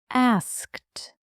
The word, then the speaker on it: asked: Asked. That s k sound. It's really quick, isn't it? Asked. It is. It's not asked. It's asked. So fast.